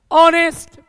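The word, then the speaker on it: honest: इसको पढ़ा होगा ऑनेस्ट ऑनेस्ट ववर नरे बल ऑनेस्ट आवर नरे बल मतलब एच को हम यहां पे साइलेंट कर देते हैं एच को हम प्रोनंसिएशन में नहीं लाते हैं और इसी के कारण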